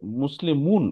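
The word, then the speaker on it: مسلمون: বুঝার চেষ্টা করেন হ্যা মুসলিমুন উচ্চারণ যখন করতেছি মুসলিমুন একদম লাস্টে কি একটা নুন সাউন্ড আসতেছে না খেয়াল করেন তো এখানে নুন নাই বাট সাউন্ডটা আসতেছে মুসলিমুন লাস্ট কি একটা এন আসতেছে দেখেন মুন নুন আসতেছে আচ্ছা মুসলিমান একটা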